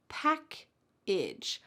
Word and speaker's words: package: The first one, package, sounds like pack. And then we have a weird vowel. That A is actually going to sound like a short I. Idge. Pack-idge. Package.